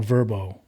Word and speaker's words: VRBO: looked it was on verbo oh okay i don't know what that is yeah it's not spelled like verb oh it's vrbo so it's not the yeah v rb vrbo speedwagon see but but